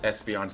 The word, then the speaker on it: Espeon: See, it's its nickname because it's pronounced Espeon, right? There's more an emphasis on that S and on the EON. So it's like Espeon, right? Not just Espeon.